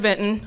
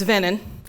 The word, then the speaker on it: Vinton: have heard the word vinton pronounced several different ways some people have a strong emphasis on that t vinton others just completely leave it out all together and it's venon but no matter how